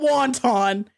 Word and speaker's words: wanton: time out time out it is not wanton it's wanton it is spelled differently there's an A okay no I'm taking the